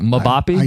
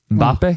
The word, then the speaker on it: Mbappe: You pronounce the M weird in that. How did you say that? Mabapp. Yeah. Mbappe.